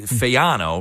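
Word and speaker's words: Fagnano: Uh you've got Joey Fayano, right? Yeah, the ng is silent. The fano, right?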